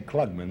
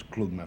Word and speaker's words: Klugman: Yeah, I always say Klugman, but the correct pronunciation is Klugman, from Klugman.